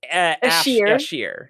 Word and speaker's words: Ashir: I feel like it's probably not Asher is the name, but... No, Jarenid is one... There's Ashir. Yeah. It's Ashir. Like, it's just a pronunciation thing.